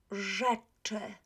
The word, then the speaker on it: rzeczy: So, rzeczy, rzeczy. A lot of students pronounce RZ as RZ. It's not RZ, it's R. It's one sound, okay?